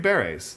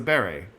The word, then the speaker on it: beret: The green berries, that's how you say it. It's a beret.